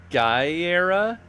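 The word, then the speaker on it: Gara: You could say this a lot of ways. I guess it could also be pronounced Gera. I like Gira. I like Gira. I feel like Gira feels right to me. I like Gira. Sounds cool.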